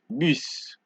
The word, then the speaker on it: bus: And for S, you don't pronounce the S at the end of the word. So you have to, for this word, it is exprès, toi, vous, right? Exprès, toi, vous. Exceptions being fils and bus.